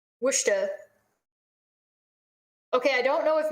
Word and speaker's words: Worcester: and i'm telling you it's pronounced what shot wusha which dog worcester okay i don't know